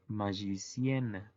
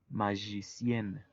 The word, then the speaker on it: magicienne: Y su femenino sería la magicienne. Sería agregarle una N y una E muda. Y la pronunciación cambia. Por ejemplo, mago, magicien y maga, magicienne.